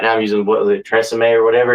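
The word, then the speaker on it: TRESemmé: Though, is Tresemme. I don't know if that's how you pronounce it. It sounds. Yeah, that's right. Tresemme.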